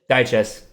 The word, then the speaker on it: Dyches: Is that how you pronounce it? Dyches. Okay, because I have been saying it wrong the whole time then, so I apologize.